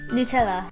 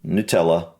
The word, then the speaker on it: Nutella: I mean, same word, just pronounced slightly differently. Okay. what? Nutella. Nutella. Nutella. Yeah, that's what I You would said. say Nutella. So Nutella. nu and na, basically.